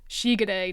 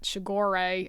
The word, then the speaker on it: Shigure: So instead of Toru Honda, it's Toru Honda, and it's Shigure, not Shigore, and everything pronounced correctly in Japanese, the way they actually pronounce it.